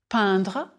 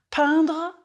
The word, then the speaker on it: peindre: prononcez s'il vous plaît peindre again peindre a pretty flat sound like impression important intéressant je peint tu peins